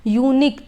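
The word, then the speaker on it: unique: एन लग जाना चाहिए बट जब हम प्रोनंसिएशन करके इसका देखेंगे यूनिक तो ये स्टार्ट होगा य से ठीक है य से शुरू होने वाला है ये तो यही रीजन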